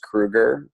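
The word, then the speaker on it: Krueger: should traditionally be pronounced Kreuger but for some reason my family pronounces it Krieger without the U so I like everyone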